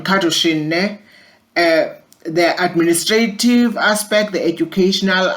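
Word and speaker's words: Kadushin: supervision according to the katushin model for supervision cartoon is spelled k a d u s h i n cartoon the administrative aspect the educational aspect they're supposed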